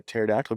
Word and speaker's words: pterodactyl: Why can't you hear a pterodactyl going to the bathroom? I don't know. Because the P is silent.